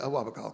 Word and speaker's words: Awabakal: But at sort of near the mouth of the Hunter Valley in Awabakal, is that the correct pronunciation? Yeah, Awabakal country.